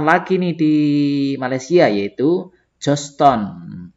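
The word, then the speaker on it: Georgetown: Lalu ada yang terkenal lagi nih di Malaysia yaitu Joston. Tulisannya kok Gergetown ya bacanya, tapi Joston ya.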